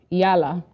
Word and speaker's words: EALA: talked about between the state and the um yala I got that from you I didn't know that's how you pronounced it um so the Council of ministers